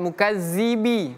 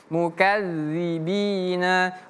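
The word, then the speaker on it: الْمُكَذِّبِينَ: wazarni wal mukadzibina ini juga sama huruf dal mukadzi kadzi azzi azzi wal mukadzi dzi bukan mukazzibi Tapi mukadzibina wazarni wal mukadzibina satu dua tzarni wal mukadzibina ulin na'mati wa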